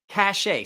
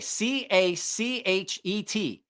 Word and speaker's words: Cachet: It is the Civivi Cachet. Cachet. The Civivi Cachet. It's a French word. The T is silent.